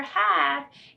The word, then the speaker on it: have: These are all the words over here where that silent E makes A say its own name, and the word over here, have, A says like Apple.